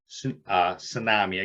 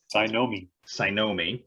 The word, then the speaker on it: Cynomi: I want both Steve and David to kind of wrap us up around Tsunami. I keep pronouncing it wrong because Cynomi, thank you.